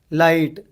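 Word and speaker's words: light: लाइट, GH silent हो गया।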